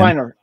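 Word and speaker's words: Weinger: Weiner.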